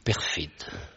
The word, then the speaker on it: Peyrefitte: on dirait alain peyrefitte vous dites perfide et bien chez moi aussi puisque je suis originaire des pyrénées ce n'est pas un hasard si on prononce ainsi le nom dans vos pyrénées puisque